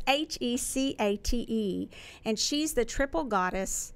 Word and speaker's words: Hecate: I referred to and I've been told how to pronounce this because it reminds me of Princess Bride Hecate or something like that police make fun of it but it's a chi CA te and she's the Triple